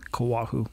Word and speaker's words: Koahou: right how do you say your last name kawahu kawahu yeah i'm gonna go out on a